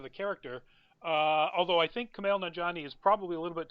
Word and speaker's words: Kumail Nanjiani: But it also brings up my absolute current favorite voice actor is, and I may get this name wrong, Kumail Nanjiani.